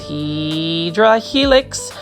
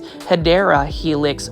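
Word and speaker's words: Hedera helix: And take a look at this Hedra Helix. This one is the correct way to say it is Hideera Helix Florida um ivy.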